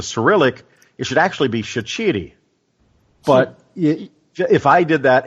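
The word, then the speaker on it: Shaqiri: it from the cilic it should actually be shiti but if I did that everyone would think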